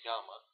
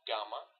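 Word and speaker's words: γάμμα: And as far as I know, theta, gamma, and delta are unique sounds, especially gamma. It's very difficult for non-Greek speakers to pronounce it, but it's not gamma, it's gamma.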